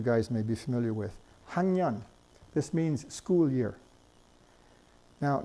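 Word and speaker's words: 학년: Now notice that we have to write it hak with the keough, which is the K sound, the kr sound. But we pronounce it hangyan, hangyan.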